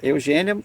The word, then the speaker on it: Eugenia: você lê o relato não tinha o acento circunflexa Eugênia a gente lê Eugênia mas se escreve Eugenia sim e eles deram